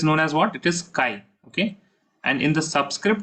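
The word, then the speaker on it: χ: Now mole fraction is denoted by this letter, which looks like X, but it is pronounced as chi.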